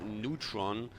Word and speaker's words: Neytpoh: We have our Nightelf versus Nightelf here, the WGL, and we have Neutron. That's at least, I was told, how Neytpoh is pronounced.